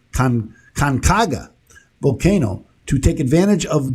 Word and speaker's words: Conchagua: I looked it up to make sure I pronounced it right. Colcanga, that's what it is. Conchagua volcano to take advantage